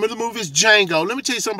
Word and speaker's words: Django: The name of the movie is Django. The word looks like Django, but the D is silent. The name of the movie is Django.